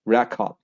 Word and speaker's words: record: And this is the first syllable stress, so they would say record.